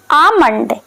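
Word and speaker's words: Almond: बादाम को हम इंग्लिश में बोलेंगे आमंड। आमंड, क्योंकि इसमें यल साइलेंट होता है।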